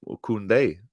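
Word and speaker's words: Koundé: Alex sounds Spanish when he pronounces these players' names. Kounde is just how you say this name.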